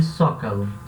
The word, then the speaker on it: Zócalo: El Zócalo vai se pronunciar um som de S. El Zócalo.